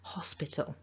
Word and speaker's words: hospital: you might want to focus on getting your h in there hospital with a the other